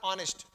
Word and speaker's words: honest: मैंने honest नहीं बोला, honest, एच साइलेंट, क्लियर।